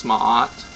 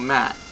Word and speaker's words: Ma'at: And I hope that you enjoyed this presentation of Goddess Ma'at. She is also mainly known that some people call her Mat, for you know, not the right pronunciation.